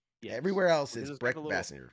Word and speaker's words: Bassinger: I wanted to stress it's Bassinger versus Bassinger, which is like Kim Basinger, even though it's spelled the same way.